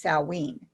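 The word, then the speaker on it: Samhain: derived on sam salween which is spelled s-a-m-h-a-i-n but you say it's sallween that's a celtic holiday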